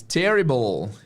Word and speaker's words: terrible: Terrible. Terrible, right? Sempre o som de OL. Right. Se você não souber fazer o L do inglês, é uma coisa tem que treinar um pouquinho o L no final, mas basicamente é o W.